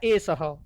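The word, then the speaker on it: एषः: एस शब्द के पीछे जो 2 बिंदु लगे हुए हैं, इनका उच्चारण होता है हा, और इसको कहते हैं विसर्ग। क्या कहते हैं? विसर्ग। ये आपको समझना है। इसको विसर्ग कहा जाता है और इसका उच्चारण होता है एसह।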